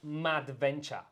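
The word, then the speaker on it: Madventure: is the old model the new one is called mad venture like a crazy adventure mad made venture 360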